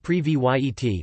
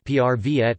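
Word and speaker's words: Привет: Try learning the words, phrases for hello equals Zdravstvujte, pronounced Zdravstvoyte, Zdravstvujte, hello, less formal, equals Zdravstvujte, pronounced Zdravstvoyte, Zdravstvujte, hi equals Privet, pronounced Privyet, Privyet, yes equals Da, pronounced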